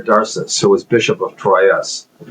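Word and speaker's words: Troyes: M uh there was this bishop uh his name was Darcus Pierre Darcus who was bishop of Troy or Tua as it's pronounced in French and he wrote uh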